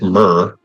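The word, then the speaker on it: mere: So the in British English mir pronounced myrr uh is a lake pond or air or arm of the sea.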